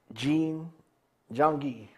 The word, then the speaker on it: Jean-Guy: I have a special guest, a good friend of mine, and also the community, Dr. Jangi is the way it's pronounced.